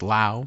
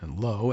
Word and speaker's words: Lowe: I don't know if it's pronounced Lau, probably Lowe, L-O-W, a neuroscientist and one-time friend of Mr.